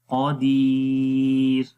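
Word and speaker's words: قدير: موٹی پڑھی جائے گی، لیکن جب یہاں پر رکیں گے تو اس وقت را باریک ہو جائے گی. تو پڑھیں گے شیء قدیر، قدیر، شیء قدیر.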